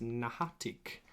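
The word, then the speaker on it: N'ha-a-itk: So, but the like we said before, the Ogopogo, that's not the name. It's actually pronounced Nahatik.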